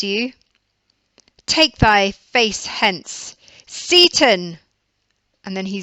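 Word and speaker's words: Seyton: word, on the name Seaton. Some people say it's pronounced Satan, in which case there would be the obvious connotations of the devil and the devil working for Macbeth.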